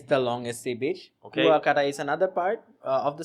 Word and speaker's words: Kuakata: I always mispronounce the name. Kuakata? Kuakata.